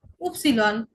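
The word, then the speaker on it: Ypsilon: ওয়াই উপসিলন, ওয়াই উপসিলন। আলাদাভাবে বলতে গেলে আমরা উপসিলন বলবো, কিন্তু কনজুগেট করে বলতে গেলে ওয়াই এর মতো উচ্চারণ হবে।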